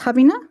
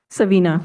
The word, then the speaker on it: Savina: Um, is your name pronounced Habina? Savina.